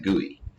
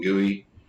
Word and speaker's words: GUI: user interfaces, GUIs, or we often go ahead and pronounce that GUI.